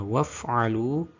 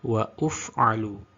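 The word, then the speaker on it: وافعلوا: Yang aslinya harus dibaca waf'alu, sehingga dibaca wa'uf'alu, karena menganggap tanda hamzah wasol kepalanya shod itu sebagai dhammah. Harusnya tetap membacanya sama, yakni waf'alu, waf'alu.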